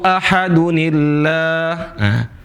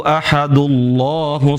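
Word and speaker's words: أَحَدٌ اللَّهُ: Nah, makanya kalau dia wasol, kalau kita teruskan, maka dibacanya Qul huwallahu ahadunillah. Qul huwallahu ahadunillahus samad. Bukan dibaca Qul huwallahu ahadullahus samad. Bukan ahadullah, tapi dibaca ahadunillah.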